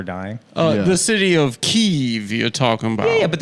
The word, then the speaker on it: Kiev: you and of course the correct pronunciation is Kiev you're gonna make Adam